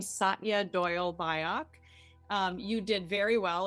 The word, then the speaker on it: Satya Doyle Byock: I pronounce my name Satya Doyle Byock.